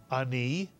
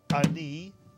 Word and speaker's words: ani: if you read it ani again it's one syllable the ah is like a grace note ani not a but ani ani and this is a